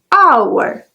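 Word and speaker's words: hour: this letter it's silent this means that I don't pronounce it example and our but an exception here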